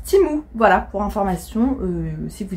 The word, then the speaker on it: Temu: il m'avait dit que ça se prononce c'est timou et pas temu il y en a